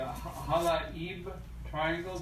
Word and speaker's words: Halaib Triangle: of the area in the southern is the Halaib Triangle. Doug, is that the proper pronunciation?